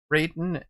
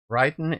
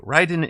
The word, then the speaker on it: Raiden: So, FMG Nick, there is Raiden and Ryden, right? Ryden is how it is pronounced in Japanese.